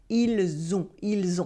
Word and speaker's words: ils ont: For now, just notice how the S at the end of il sounds like a the sound at the end of it. Ils ont.